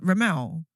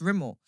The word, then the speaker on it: Rimmel: I was like, Rimmel. They were like, no, it's pronounced Rimmel.